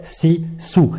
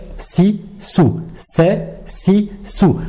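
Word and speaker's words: س: Donc, une lettre amincie, facile à prononcer, comme le S en français, c'est si sou. Quand on la prononce, on a l'impression que les dents sont fermées, mais pas forcément.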